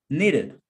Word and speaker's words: needed: Because I will add the syllable id, this sound, to the last sound of the verb in past tense. So pronounce it, needed.